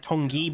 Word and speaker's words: Tongi: It's spelled like Tongi, but it's pronounced Tong.